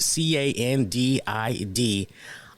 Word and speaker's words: candidiasis: But it's spelled CANDIDIASIS, oral candidiasis.